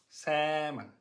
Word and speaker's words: salmon: It's a silent L.